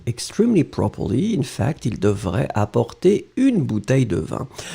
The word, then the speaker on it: devrait: We get devrait. Remember, we don't pronounce the final T.